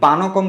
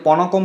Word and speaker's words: পানকম: এবং পানকম কিন্তু ভগবান শ্রীকৃষ্ণদেবের প্রিয়, এটিকে অনেকে পনকম বলে থাকে, কিন্তু এটির উচ্চারণ হচ্ছে পানকম।